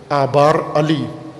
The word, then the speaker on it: آبار علی: آبار علی، آبار علی، آج کل کی عربی میں تلفظ اس طرح سے کرتے ہیں، آبار علی۔ یہ آبار علی، آبار